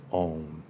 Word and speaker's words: Om: And as HPB points out, it could be a 3-syllabled word, a 2-syllable, it can be A-U-M. Remember, it's starting, imagine, it's like the 3 worlds, right? Om, you're ending with the dental, you're starting in the back. So air, is going through the palate, becoming a U, and then the dental, the clip, but it's a nasal M, so it's vibrating constantly.